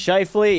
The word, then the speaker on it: Scheifele: It's Scheifele. Yeah, I butchered it, chat.